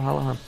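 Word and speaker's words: O'Halloran: that means fastest player would be Michael halahan his that's how you say his name Michel halahan I call him I call him halahan that's his name but um yeah he's rapid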